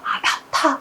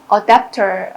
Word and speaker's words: adapter: 상황에 맞게 적응시켜주는 것이 바로 아답타 발음을 그렇게 이제 한국에서 합니다.